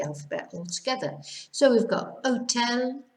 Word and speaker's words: hotel: Hotel, we just ignore the H as if it's not even there. Hotel, ahora, so you're skipping over the H.